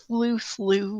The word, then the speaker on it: Cthulhu: I don't know if it's actually what it was intended, but then he said flu was the pronunciation of Cthulhu, so whatever.